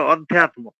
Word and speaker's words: অধ্যাত্ম: যদি সন্ধি বিচ্ছেদ করে বলেন তাহলে আধ্যাত্ম বলা চলবে না, ওটা অধ্যাত্ম। আচ্ছা আচ্ছা আচ্ছা আচ্ছা।